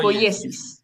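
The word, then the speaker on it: ποίησις: Es que no sé si eso es una i o una l, por eso no quiero intentar pronunciarlo. Ah, creo que dice oyesis, ¿o no? Claro, es que es una i con un acento. Entonces pronunciar po poyesis. Poyesis. Poesis. Claro que es la que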